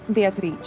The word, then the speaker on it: Beatrice: Beatrice, it's Italian.